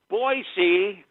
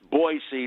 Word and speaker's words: Boise: Hello, Boisey. Not Boise. I'm one of the few people in the great state of Florida that knows it's pronounced Boisey, not Boise. There is no Z in Boise.